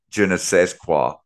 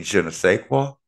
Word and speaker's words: je ne sais quoi: he tries to say, je ne sais quoi. I mean, you mean je ne sais quoi? Wow. I said the SAIS is pronounced say, not said. That's French.